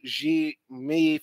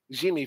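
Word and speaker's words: Diomaye: Bassirou Diome Faye, pronounced Bassirou Jimi Faye, Jimmy Faye, oh, Jumi Faye.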